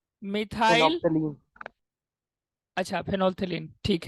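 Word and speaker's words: phenolphthalein: फेनोप्थिलीन मत पढ़ दीजिएगा, वो पीएच प्रोनाउंस नहीं करते हैं, ये एल होता है वैसे यहाँ पे। फेनोल्थिलीन होता है वो, पीएच मत पढ़िएगा।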